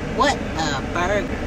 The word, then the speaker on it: Whataburger: so I'm a burger how do you pronounce what are but it's spelled wh 18 a bu r GE are what burger so yeah I'll see